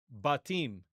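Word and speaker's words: בָּתִּים: Well, what you're going to see here, if you check this out, is that in the plural, the word is batim. It's with a long A vowel.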